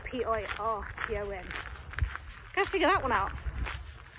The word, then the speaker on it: Pirton: It's pronounced Pirton.